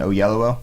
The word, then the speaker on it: Oyelowo: But Gyllenhaal and Oyelowo, hey, I think I pronounced it right.